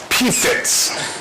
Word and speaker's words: PFTS: That's pronounced PFITS, as in, God, Doc, those pigs really have the fits.